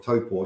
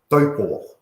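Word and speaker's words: Taupō: in her auto cue, she had for taupo, she had TOE-PAW, because she wanted to pronounce it correctly, but she couldn't do it by spelling it the Māori way.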